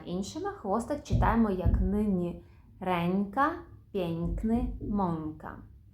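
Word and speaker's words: ręka: місці б п м якщо ж наші носувки всередині слова стоять перед будь-яким іншим звуком то ми їх будемо вимовляти як н інколи як ні пєнтро єнзик вигльнд памянтка пінькни ренька А що про кінець слова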